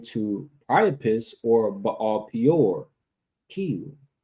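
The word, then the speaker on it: כִּיּוּן: All right, so when we go to the Hebrew word, we see that it's pronounced Kiyun, right?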